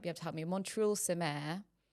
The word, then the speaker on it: Montreuil-sur-Mer: And it's called, I'm going to butcher the pronunciation, but Alex might be able to help me, Montreuil-sur-Mer. Montreuil-sur-Mer.